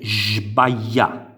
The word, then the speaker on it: sbaglià: La SB più la A sarebbe, vedete, si scrive sbaglià, si legge sbaglià, sbaglià, col suono della sh.